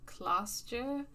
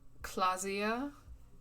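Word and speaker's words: Klaasje: Uh, I think her name is Clashier. I don't know how to pronounce that, so apologies if I'm mispronouncing her name. Miss Orange disco dancer. There's only one solution to this. You're a businessman. Clausia.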